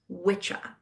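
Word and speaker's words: wicca: Anywh who um so wikah is actually the way that word is spelled is w i ca but in old English it would have pronounced been pronounced witcha which is why it became witch.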